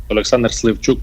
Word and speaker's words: Oleksandr Slivchuk: ¿Estoy pronunciando bien su nombre y su apellido o cómo se pronuncia? Alexander Slivchuk, pero no se preocupe, es un nombre complicado.